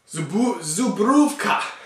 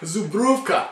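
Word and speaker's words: Żubrówka: Zubrówka. Zubrówka. That's my Polish coming through.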